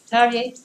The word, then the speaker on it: Terje: Why did Terje, this is how we pronounce this name in Norwegian, Terje decided to stop playing in the jazz band?